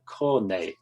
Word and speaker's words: cornet: that is mentioned is the cornei it's spelt cornet but it's got nothing to do with the brass instrument it's a compound stop